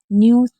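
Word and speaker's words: knew: न्यू में के एंड साथ होता है तो के साइलेंट रहता है।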